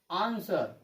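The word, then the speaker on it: answer: ये W silent है, ये डब्लू साइलेंट है, ये डब्लू आंसर पढ़ते हैं, है ना। ये रॉन्ग प्रोनाउंसिएशन है।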